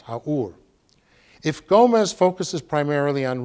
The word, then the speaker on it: Haour: by an archaeologist named Anne, I think it's pronounced Haour.